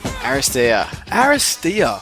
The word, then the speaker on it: Aristeia: You probably shout it a little bit more, like a bit more louder. Aristeia! Yep, that's it.